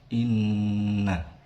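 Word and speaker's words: إِنَّا: Pada ayat pertama, pada lafadz inna terdapat hukum bacaan gunnah karena ada nun bertasydid. Cara membacanya ditahan sepanjang 2 harokat, inna.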